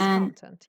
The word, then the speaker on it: content: it the same again the first one was correct the stress is on the first syllable content but the second one is content content content yes very good content the stress goes on the second syllable and it's an adjective what does it mean